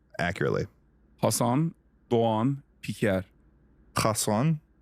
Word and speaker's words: Hasan: Hasan. No kha.